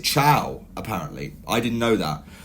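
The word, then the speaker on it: Thiaw: I think his name, you actually pronounce it Chow, apparently.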